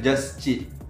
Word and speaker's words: Juschie: Ayun, Just Chi. Kasi, nanggaling talaga yun sa, sa name ko na Justin Richie.